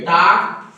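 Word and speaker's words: talk: देखो मेरी बात सुनो, एक टीएल पे टाक, डब्ल्यू के वाक, इसको बोलते हैं टाक, इसको बोलते हैं वाक। यल के बाद तुरंत अगर के आता है, यल साइलेंट होता है।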